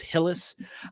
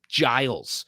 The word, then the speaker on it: Hillis: damn dude you know the amount of people that say my name is Hillis I I had a 5050 shot and as somebody who is always just dealing with the Hiles people calling my name Giles or and I don't even have a g or J in my last name it's an H but people still pronounce it wrong I'm sorry Gillis